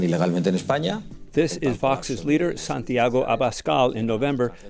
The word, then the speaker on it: Vox: But today, Torrente's diatribe sounds lifted from a certain real political party's playbook, a party whose name rhymes with the fictional Nox. It's called Vox.